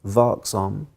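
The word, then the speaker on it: vaksam: And unless we are, I've learned this Swedish word, unless we are vaksom, vigilant, vaksom, did I say it right?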